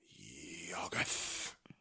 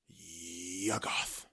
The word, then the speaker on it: Yuggoth: the stars in the sky and dream of YUGGOTH. Say it with me, babe. No. Or wait, I think I said it wrong. Shoggoth. No, what? No, Shoggoths are the monsters. The planet is YUGGOTH.